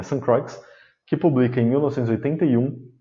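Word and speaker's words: Ste. Croix: é o Geoffrey de St. Croix, alguns pronunciam ainda Sainte-Croix, mas ele é inglês, né? St. Croix, que publica em 1981 o livro A Luta de Classes no Mundo Grego Antigo.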